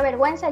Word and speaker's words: vergüenza: Su uso más frecuente es en la letra U, en las sílabas we y wi. Por ejemplo, la palabra vergüenza lleva diéresis y las palabras guerra o merengue no llevan diéresis porque no se pronuncia la U.